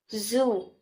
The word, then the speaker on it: Xu: The six sounds are Xu, pronounced as sure with a deep sigh, which is associated with the liver.